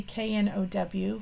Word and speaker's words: know: K for the silent K in know. So yeah, we just kind of look at that. But when we see KNOW, we know that means know, what you know up in here.